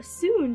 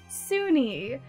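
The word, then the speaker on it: Sune: to it um and it says it's supposed to be pronounced sunni but it's spelled like s-u-n-e so for the past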